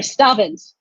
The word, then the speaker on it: Stavans: First, we have Ilan Stavans, who I keep pronouncing his name wrong. I'm sorry, Stavans.